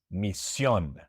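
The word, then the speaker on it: misión: The accent goes on the last syllable. For example, mission becomes mission.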